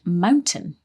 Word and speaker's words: mountain: pronunciation of the word mountain in mountain lions yes she said Mountain line that's right she kind of didn't pronounce the T this is quite common in English isn't it a lot